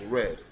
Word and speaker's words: read: a d and you spell it the same way but say it in past tense is pronounced red like you say I